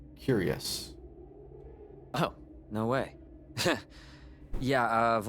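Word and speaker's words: cuirass: Oh, it's pronounced curious.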